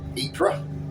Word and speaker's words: Ypres: at the Battle of Ypres, or Wipers as he would have called it.